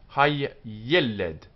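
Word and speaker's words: הַיֶּלֶד: Hay-yeled, hay-yeled. The child. Hay-yeled. Double yud, accent on the, here, on the mingle L.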